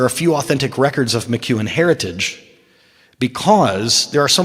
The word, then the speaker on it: McKeown: And so some people spell it McKeown, McKeown. It's kind of like Ewan McGregor, only there's a Mick in front of it, right?